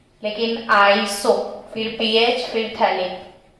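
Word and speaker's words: phthalic: CHO थे, तो ये थैलिक एसिड है। कौन सा एसिड है, थैलिक एसिड। ये PH जो आपको साइलेंट रखना है, फिर उसके बाद में थैलिक लिख दो, तो ये थैलिक एसिड है।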